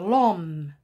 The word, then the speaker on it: homme: acteurs on commence par l'homme l'homme voilà ce h c'est une lettre muette et on l'appelle h mu est agréé à soi tout seul h muet l'homme au pluriel les hommes